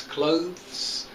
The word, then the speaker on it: clothes: clothes and months okay you've got to try to make a th and then a s sound but there's not there's only one syllable in both of these words clothes months okay um so thanks